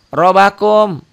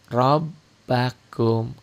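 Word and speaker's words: رَبَّكُمْ: kalau ada tanda nah ini pemula biasanya bacanya rakum rakum rbakum R bakum Masa sih pemula juga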